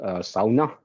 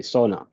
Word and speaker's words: sauna: in the Finish language uh this word is pronounced SAA um and whereas uh although it's the one word from Finnish language that's known all over the world and I think most English speakers will just say Sona I don't really mind which way you put